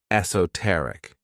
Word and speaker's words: esoteric: This word has 4 syllables, and the stress is on that third syllable, esoteric.